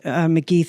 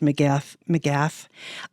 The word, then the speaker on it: McGeath: I mentioned McGeath. It's actually pronounced McGath.